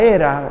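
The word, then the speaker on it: Hera: es casado la esposa de zeus se llama era que se escribe con h pero se use sin fin la era multitud de veces los soldados quieren ser valientes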